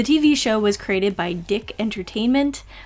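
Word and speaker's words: DIC Entertainment: The TV show was created by Dick Entertainment, yes, that's how it's pronounced according to Wikipedia, in 1987, and ran for about 20 episodes.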